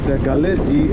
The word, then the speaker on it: Galle: গালে GALLE গালে, এটা উচ্চারণ গালে, কিন্তু ওরা সবাই গোল্ড বলে। যাই হোক, এটা ওদের ব্যাপার, গোল্ড বলে।